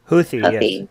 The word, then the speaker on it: Houthi: were claimed by Yemen's Houthi rebels did I pronounce that right Houthi yeah if the rebels struck two key oil